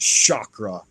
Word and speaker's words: chakra: the chakra systems chak I know people these days are calling chakras but in in my old school I I was born in early 70s it was always pronounced Shakra with an sh so um don't over